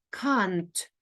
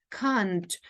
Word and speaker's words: can't: ми бачимо скорочено форму транскрипція нам говорить що треба сказати Кант Кант це British World британський варіант цього слова тут